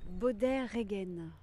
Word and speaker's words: Beaudet-Regen: Alors, comment on prononce ton nom de famille? Baudet-Regen.